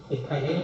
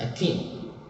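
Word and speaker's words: ethylene: मैं पहले बोल दिया प्रोनाउंसिएशन अलग अलग है टीचर्स की, इथाइलिन भी क्या देते हैं, एथिलीन भी बोल देते हैं, बट in this case pronunciation is एथिलीन।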